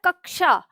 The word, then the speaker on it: कक्षा: इसको उच्चारण करते हैं, बहुत लोग इसका उच्चारण कच्छा करते हैं। ध्यान रखिएगा, वो कच्छा नहीं होता, गलत होगा। इसका उच्चारण होता है कक्षा।